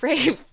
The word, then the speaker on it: Ralph: Why is it spelled like that? Rafe.